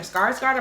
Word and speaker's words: Skarsgård: Nathan Lind, and played by Alexander Skarsgård, I believe is how you say his name.